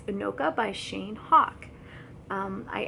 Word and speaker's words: Anoka: with this so i'll put it up it's anoka by shane hawk um i actually messaged him on twitter asking how to pronounce it and he told me yes it's anoka and it's a small city in minnesota originally